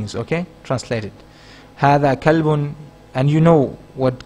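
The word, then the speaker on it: هذا: you understand these points hada is pronounced as ha the but it's written without the first alif we do not write this alif in the like in hada but we do pronounce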